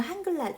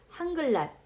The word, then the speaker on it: 한글날: 한글날 요거 한번 발음해 보실래요? 여러분들? 한글날. 선생님 어떻게 발음했죠? 한글날 이렇게 발음했어요. 자, 보시면은요. 여기 있는 리을과 여기 있는 니은을 만나면요. 니은이 리을처럼 소리가 나요.